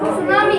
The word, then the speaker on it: tsunami: सुनामी, सुनामी का आपको pronunciation ऐसे करना है, डी साइलेंट है, ओके।